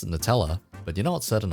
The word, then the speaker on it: Nutella: went to Singapore, there was a phase where all of their desserts were Nutella flavored, and then the thing is, we eventually got so sick of it.